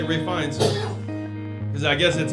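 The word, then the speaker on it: Fiennes: name is ralph great what's the last name finds but it's spelled like fiannis i oh yeah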